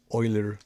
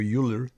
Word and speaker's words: Euler: This is your Euler load, or Euler, okay, whichever way you want to pronounce it, Euler load.